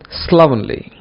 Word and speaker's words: slovenly: The third one is slovenly. Slovenly. Don't say slovenly. This is slovenly. Pronounce L-O-V-E just like you pronounce love. Slovenly. Slovenly.